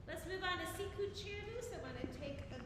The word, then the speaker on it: Sicut cervus: All right, so just a reminder of the pronunciation. Sicut cervus. Sicut cervus.